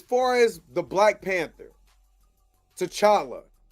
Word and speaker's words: T'Challa: But as far as the Black Panther, T'Challa, son of T'Chaka, because I have to say it like that, not TJ, he don't exist.